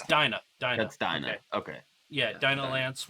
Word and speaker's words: Dinah: wrong on the podcast it's a d-i-n-a-h it's so it's dyna dynamics okay yeah dino